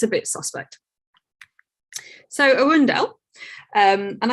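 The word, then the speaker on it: Earendel: so arundel um and i did check the pronunciation of this because i really feel like it should be arendelle but but i'm going to go with what nasa released and say arundel um what we see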